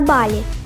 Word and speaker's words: Балі: в першу чергу розповім що всупереч поширений серед наших туристів вимові на голодослові балі ставиться на перший склад а не на останній продовжимо тримаючи цю інформацію